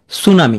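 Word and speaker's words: tsunami: উচ্চারিত হয় না যেমন সুনামি এখানে প্রথম প্রথম অক্ষরটি উচ্চারিত হচ্ছে না সুনামি প্রথমটি উচ্চারণ হবে না নিউমোনিয়া পি উচ্চারণ হচ্ছে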